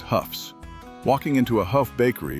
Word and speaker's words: Hough: Ask anyone outside of Northeast Ohio to pronounce the letters h o u g h, and they will almost always stumble over it. But, we knew exactly how to say it. We knew it was proudly pronounced Houghs.